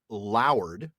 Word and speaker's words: lowered: And in episode 152, we read the line, "The clouds lowered rhymes with towered as the clouds lowered," which is the usual pronunciation.